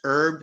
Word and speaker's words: herb: Isn't it pronounced herb? The H is silent.